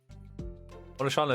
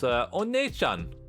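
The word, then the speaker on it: お姉ちゃん: Onishana is pronounced Onechan, you uncultured swine.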